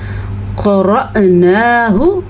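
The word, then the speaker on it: قرأناه: ہم نے سیکھا ہے۔ قرأناہ، را زبر حمزہ ساکن، را کو پر پڑھنا ہے، نون کھڑی زبر نا کو لمبا کر کے پڑھنا ہے، اور ہا کے تلفظ کا خاص خیال رکھنا ہے۔ فتبع، عین کی آواز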